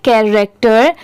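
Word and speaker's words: character: यह है द कैरेक्टर सी एच ए आर ए सी टी ई आर इसे हम पढ़ेंगे कैरेक्टर। यहां पर देखिए सी एच ए कै आर ए सी टी ई R rector.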